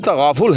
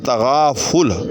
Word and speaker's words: تغافل: تو غلط پڑھیں گے۔ تو یہ لفظ تغافل جو ہے یہ باب تفاعل سے ہے۔ تفاعل، تے پر بھی زبر ہے، فے پر بھی زبر